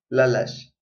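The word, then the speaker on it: lalax: Panitlaixcopincayotl tiquita lalash. En esta imagen vemos naranja. Lalash, naranja. En la forma de escritura, su escritura es con X. Su pronunciación es como sh, lalash.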